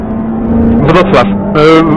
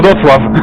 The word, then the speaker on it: Wrocław: Yeah, I've been to, I don't know how you pronounce it, but Wrocław? Wrocław.